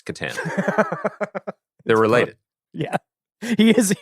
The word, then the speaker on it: Katan: not Al Wars comic batan says is it batan or Katen am I pronouncing am I doing it the proper Star Wars pronunciation it's pronounced like the co-star of the night at the rockberry it's Katan they're related yeah he is he was born